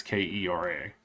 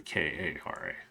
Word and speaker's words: Kara: so I always keep thinking it's Kera, but it's actually Kara.